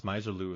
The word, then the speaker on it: Misirlou: Dale's uh misirlou and I heard her pronounce miserlu as well I've never heard of pronounced that way oh yeah misirlou and so uh it's